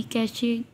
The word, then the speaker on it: cache: है अब कैश memory कैश कैश इसको प्रोनाउंस करते हैं इज अ स्मॉल स्मॉल